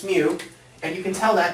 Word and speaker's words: mu: when you write it it's not U it's mu and you can tell that because it's got this little tail here mu mu is how it's pronounced